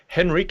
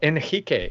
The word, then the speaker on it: Henrique: So, as I said, we have with us, I will say it as I would say it in English, but I've been trying to practice my Portuguese pronunciation. So we have Henrique in English, or Henrique if you say it in slightly bad Portuguese accent.